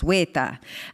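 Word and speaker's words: wētā: The issue, though, is that weta, of course, has a long e and ta, of course, weta.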